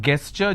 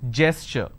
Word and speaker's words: gesture: A lot of people pronounce this as gesture. It's not gesture just because the letter G is there. It is gesture.